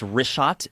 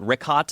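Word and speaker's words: Richat: In the first couple uh I just want to say it's Rishot. I used to call it Rickot. I was mispronouncing it.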